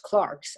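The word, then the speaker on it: clercs: clerks but it's pronounced clarks i just learned cause i asked her that's the french pronunciation a channel nostalgia for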